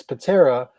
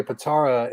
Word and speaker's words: Pitarra: many i never correct anyone if it put patera or potara it's patera but people say potara and it's pointless to correct him i don't